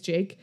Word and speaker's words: JVKE: It's spelled Jvke because it's supposed to be an upside down A. Yeah. But his name is Jake.